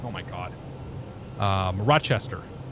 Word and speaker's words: Rochester: spelled oh my god Rochester Rochester no Rochester it's like almost like Rosh so it's like halfway between watch and rush Rochester you flew in